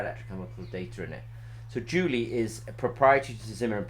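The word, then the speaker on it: Djuli: data to something called Julie. Now Julie, you can Google Zimmer Peacock and Julie. It's got a slightly unusual spelling. It's D-J-U-L-I. It almost looks like it's spelled as the Julie, but Julie is a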